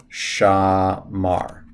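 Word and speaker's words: שמר: it to you and you would just pronounce it as sha mar that's that's how you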